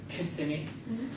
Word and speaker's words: Kissimmee: Osceola County in Kissimmee, as they tell me how it's said.